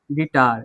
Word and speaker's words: guitar: अब इसमें क्या जोड़ा, यू, यहाँ पे यू क्या है, साइलेंट है। गिटार, गिटार, गिटार में देखिए तो आप पढ़िए तो GITAR,